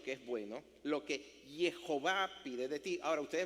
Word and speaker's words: Jehová: el nombre de Dios, que en hebreo así como está no dice nada, pero cuando uno le añade las vocales que no están ahí mostradas se pronuncia Jehová.